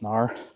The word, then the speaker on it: Knarr: I think it's pronounced Canar. I mean, they wouldn't put the K on there if it wasn't there for a reason, right? You got to pronounce it Canar. I'm pretty sure it's just NAR.